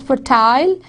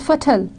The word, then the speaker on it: fertile: It would rhyme with turtle, fertile and turtle, fertile and fertile. There is one British would say it's fertile, American would say it's fertile.